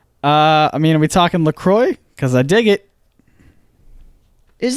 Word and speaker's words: LaCroix: on their website that it is pronounced Lacroix like enjoy as I believe the